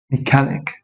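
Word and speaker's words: mechanic: الاتش مش هيتنطق اونر اونر هنا الاتش مش هيتنطق هنا ايهست انست انست انست هنا اقول ايه ميكانك ميكانك خد بقى كلمات كتيره زي مثلا تكنولوجي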